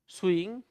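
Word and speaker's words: shoeing: सुइंग लेकिन सु की स्पेलिंग तो जानते होंगे।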